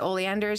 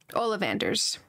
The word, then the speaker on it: Ollivander's: So I am gonna travel there because we're right next to Oleander's and we can sell our stuff there. Ollivander's. Sorry, I said it wrong.